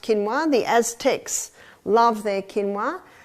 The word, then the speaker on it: quinoa: become familiar with it's spelled quinoa but it's pronounced quinoa the Aztecs love their quinoa Aussies are starting